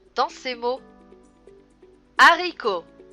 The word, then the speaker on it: haricot: h dans ses mots haricots à ricco h serait bien tu as veut on peut voir la lettre h mais on ne peut pas la prononcer haricots à mac à